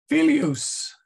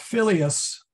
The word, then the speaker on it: filius: Filius is correct, but filius sounds weird. Oops. Okay. So that will cue you in that you need a long I in there.